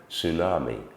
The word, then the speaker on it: tsunami: a spelling that um has a t followed by an S um but the t is silent we simply say tsunami but of course we